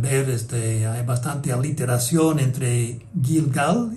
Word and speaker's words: Gilgal: Ahora, hay un juego de palabras en hebreo entre Gilgal, que en hebreo se pronunciaba como Gilgal, así lo ponen en la Nueva Versión Internacional y la Biblia del Peregrino, por ejemplo.